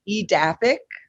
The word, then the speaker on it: Edaphic: But how do you pronounce the name of the company? Yeah, so my company is Edaphic, Uh-huh.